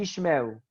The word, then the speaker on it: Ishmael: Say after me, Ishmael. Ishmael. So what is important here? When you have two shua in a row, the first one is silent, the second one is vocal.